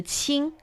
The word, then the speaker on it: 清: It's a 3-dot water sign, suggesting we're talking about the water is very clear, and it's pronounced 清.